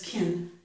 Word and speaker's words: can: I don't know now if I did ah or ih, but I know that I reduced it. He can answer. Okay, that was kin.